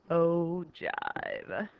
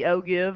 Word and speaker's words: ogive: You get to say the word jive. Plus, it really looks like it'd be ogive, but it's not. It's ogive. And so we talked when we talked about histograms.